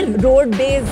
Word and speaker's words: Rodbez: है वो और ये रोड बेज पे रोड बेज चूंकि पापा रोड रोडवेज का बस चलाते थे तो बिहार में क्या रोडवेज करके प्रोनाउंस करते थे तो उसको हम रोडवेज कर दिए ताकि लोग थोड़ा सा